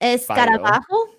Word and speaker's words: escarabajo: Escarabajo. Oh, that's a new one I haven't heard of. What was bajo? That's it. Escarabajo, yeah. Like the hole, like the J is someone pronounced like an H.